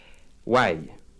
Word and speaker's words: Why: chanson que j'aime beaucoup son titre why ça s'écrit WH y mais ça se prononce avec l'accent anglais inutile d'insister encore je